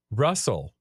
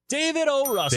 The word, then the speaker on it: Russell: Oh, he uh it rhymes with hustle. Russell. David O. Russell.